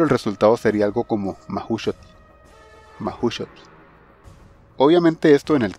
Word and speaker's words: Mahuxotl: La letra X se pronuncia como SH, sh, y en la terminación TL se pronuncia la letra T y la L es sorda.